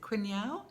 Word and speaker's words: quinoa: Is it quinoa? Quinoa. It's spelled to me quinoa, but quinoa, I think it's pronounced.